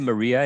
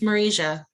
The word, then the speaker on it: Marija: good um is it is it maria is that how to pronounce your name i'm sorry if i'm pronouncing it wrong no it's okay it's marija marija oh sorry with that